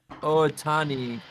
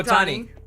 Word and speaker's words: Ohtani: Ohotani. Shohei Ohtani. He's a Japanese baseball player. Jesus Christ, Kevin. What? Yeah, Ohtani.